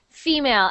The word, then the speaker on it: female: Okay, so Esther, female, and again, it's the stress on the first syllable. So female, not female. So not female, but female. Female.